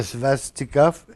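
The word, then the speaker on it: svastika: croix le le le svastiov faut je l'éccrive pour être capable de le prononcer s V a S t I K a c'est en sanscrit alors c'est une langue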